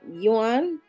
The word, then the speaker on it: yuan: A couple welcoming their first baby will automatically receive 3,000 yuan, which is $443 in US dollars.